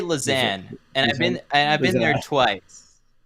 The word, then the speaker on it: Lausanne: I say Lausanne, and I've been there twice. Yeah, and that's how I pronounce it when I was a resident.